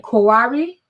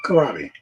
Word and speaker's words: kohlrabi: now, and corn and kohlrabi. Do I always say that wrong? How do you say it? Kohlrabi. Kohlrabi. It's a German word.